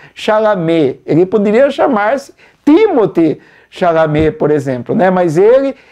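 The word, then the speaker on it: Chalamet: nome mais simples né porque até para os americanos é meio complicado pronunciar o nome dele em francês né timote chalam ele poderia chamar-se timote chalam por exemplo né mas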